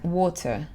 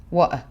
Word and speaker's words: water: Alors que les Anglais, ils vont dire water, better. Ou ils vont dire better, water. Soit ils prononcent vraiment le T, ou soit ils ne prononcent pas du tout le T.